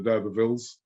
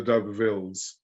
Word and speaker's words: D'Urbervilles: There's a book called Tess of the D'Urbervilles. You do pronounce the S on the end, Tess of the D'Urbervilles. Oh, okay. Because I had said Tess of the D'Urberville, but it's D'Urbervilles, plural.